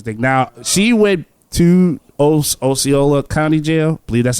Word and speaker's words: Osceola: Now she went to Osceola County Jail. I believe that's how it's pronounced. Osceola.